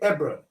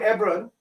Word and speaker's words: Hebron: So I would say Hebron, E-B-R-O-N. It's the same Hebron. The H is silent in the case.